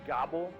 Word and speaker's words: Gabel: Well, my partner always wanted to name a restaurant the Gabel, which in German is actually pronounced die Gabel, and that's fork in German.